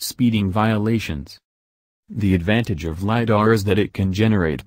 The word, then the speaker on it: lidar: sold to you for nearly $700 million liar pronounced liar is shorthand for light detection and ranging it